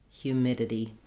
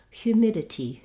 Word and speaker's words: humidity: So ditty, midity, humidity. Again, that was the American English pronunciation, British English, humidity, humidity. They clearly say that T sound with a little release of air.